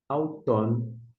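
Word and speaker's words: αὐτόν: Há um ditongo, alfa com Y, a gente pronuncia au. E na sequência, nós temos ton, auton. Auton é, portanto, a pronúncia.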